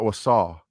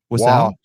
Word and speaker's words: Wausau: Hold on, my friend, because you just made enemies right there, because it is not Wausau. Oh, no. How do you say it? Say it. Wausau? Wausau.